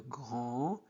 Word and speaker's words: grand: Il regardait passer le grand, on ne prononce pas des, le grand camion, le grand camion, rouge, sirène, hurlante.